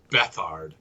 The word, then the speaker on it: Beathard: Bethard, but it's pronounced it's written Beathard.